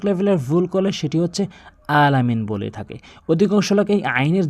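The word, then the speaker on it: الْعَالَمِين: আলামিন মানে হচ্ছে উভয় জগত। আলামিন। আর আলম মানে আলামিন। এটার অর্থ ভিন্ন। আলামিনের অর্থ নয়। এটির অর্থ পরিবর্তন হয়ে যায়। এখানে আলামিন আইনটি ভর দিয়ে উচ্চারণ করবেন।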